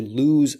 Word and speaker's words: lose: right now, L-O-S-E, to lose something. But loose, and listen carefully to the difference in these pronunciations. Lose, it's like L-O-Z or L-U-Z or something. Lose versus loose.